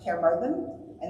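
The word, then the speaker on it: Caerfyrddin: is the English name in Welsh it's spelled k Muran which trans or pronounced K Mur and that literally translates as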